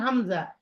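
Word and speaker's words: ء: না, কোনো মাদ নেই, প্রত্যেকটা উচ্চারণ করতে গিয়ে মাদ আছে, কিন্তু আলিফ এবং হামজা এই দুইটা উচ্চারণ করতে কোনো মাদ নাই, জি না।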